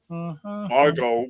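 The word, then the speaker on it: Margot: for it yeah what anyone that's got like a silent T in their name you go for it what do you mean a silent te in their name Margo Robbie okay oh oh okay okay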